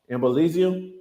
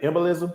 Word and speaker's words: embolism: your butt liposuction dangerous can cause embellisio is that what they're saying did I said embolism did I say it right okay embolisms